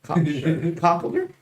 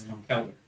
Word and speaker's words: Conkeldurr: Conkeldurr? No, that's Girder. Girder. I think Girder is better than Conkeldurr. And I don't mind Conkeldurr at all. First of all, it's Conkeldurr.